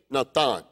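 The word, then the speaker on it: נתן: It's a Hebrew verb, natan. It's spelled N-A-T-H-A-N, natan.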